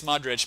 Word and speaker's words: Modric: I don't even know how to pronounce that little C in the end. Okay, apparently it's Modric.